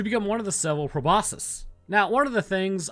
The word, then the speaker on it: proboscis: things about proboscis is in the scientific field you say proboscis but in everyday language I've heard people say proboscis with like a c like a hard C I don't really care